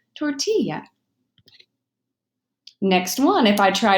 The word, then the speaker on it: tortilla: a word comes from if I look at this word and I try to read it using an English pronunciation I'm going to say torte illa but we all know this comes from the Spanish language and so it's pronounced tortilla next one if I